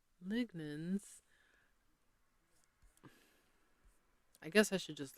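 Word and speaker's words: lignans: Anyway, let's see if my pronunciation was correct. Is it lignens?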